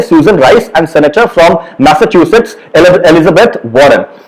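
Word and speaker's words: Massachusetts: का नाम सुना होगा, इसको प्रोनाउंस मैसाचुसेट्स कहते हैं, किसी और तरीके से मत प्रोनाउंस करिएगा।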